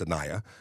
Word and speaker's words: Anaya: I don't know why I was going to pronounce it that way. Don't know why, but I did. But I believe it's Anaya.